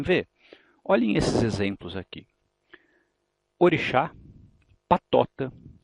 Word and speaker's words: orixá: Portanto, em orixá eu tenho certeza de que o chá é a sílaba tônica, em mágica eu tenho certeza de que o má é a sílaba tônica.